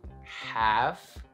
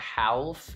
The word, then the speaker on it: half: Also, you can do half, right? It's not half, it's half.